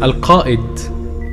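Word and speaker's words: Alkaid: Al-Kaid in Ursa Major, pronounced Al-Qaid, meaning the leader.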